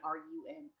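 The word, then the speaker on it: 仁: they called run, or it's spelled kind of like Ren, R-E-N, but it's pronounced kind of somewhere between R-E-N and R-U-N. So I'm just going to say run.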